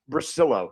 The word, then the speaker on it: Brasillo: That's Brasillo, right? Brasillo, yes. Brasillo, yes.